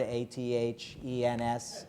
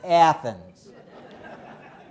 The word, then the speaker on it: Athens: I don't want you to make fools of yourself by mispronouncing the word A-T-H-E-N-S as Athens. Because then everybody in Illinois will laugh at you, because everybody knows that it's Athens, Illinois.